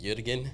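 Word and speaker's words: Jürgen: in into effect of it's properly pronounced Yuan we say jerk and of course in an American way but yeah that's the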